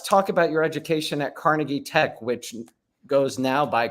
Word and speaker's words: Carnegie: eats with pruto or something I'll have the Carnegie melon please you know uh and so it's